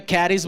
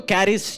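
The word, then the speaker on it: χάρις: Grace, grace word Greek में कैरिस बोलता है, कोई कहता है सी साइलेंट है, हैरिस है, इब्रानियों में अलग है। वो जो कैरिस जो शब्द है, कैरिस ही हम प्रोनाउंस करते हैं, उस जो शब्द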